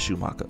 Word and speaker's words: Schumacher: So by all means, I think all F1 fans and all people who are fans of Michael Schumacher should, or Schumacher, how I say his name is Schumacher, all right, should check into this.